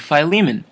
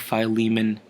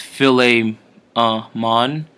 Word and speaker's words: Philemon: about the book of Philemon um it's not pronounced philly ah mon or you know misinterpreted as a filet mignon a very tasty delicious